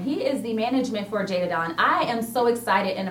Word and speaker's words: Je'Dah Don: Je'Dah Don is how you say her Don.